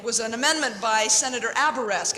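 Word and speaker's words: Abourezk: It was an amendment by Senator Aberesk. At the time, I called him Aberzek. I didn't even know how to say his name, and I didn't really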